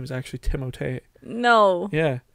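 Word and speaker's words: Timothée: timot did you know his name is actually timot no yeah it's not Timothy or Timothy well it's technically pronounced timot timot shal that's true no that's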